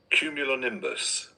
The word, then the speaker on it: cumulonimbus: We do have the pronunciation. Let's listen to it. Cumulonimbus. Cumulonimbus.